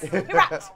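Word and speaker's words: Kyrat: Kirat. Thank you. I'm just going to ask you to just pronounce everything today.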